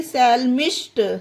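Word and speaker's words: psalmist: उसी तरह से सैल्मिस्ट, MIST, सैल्मिस्ट, यहाँ पर भी पी साइलेंट है, पी के जस्ट बाद एस आया है।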